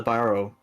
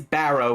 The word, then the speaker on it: Barrow: Keep getting it wrong because you guys keep saying it wrong. Sorry. Not to throw shade on my players, but it is Barrow with an A.